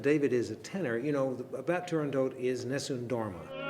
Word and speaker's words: Turandot: It is always Turandot. The T is pronounced and there's just an O, because Puccini wrote it that way.